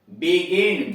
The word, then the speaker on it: begin: इसमें देख रहे हैं कि इनके बाद यानी जी के बाद ई भी आ रहा है, आई भी आ रहा है, फिर भी उच्चारण इसका गो हो रहा है। Gift, GIFT, gift.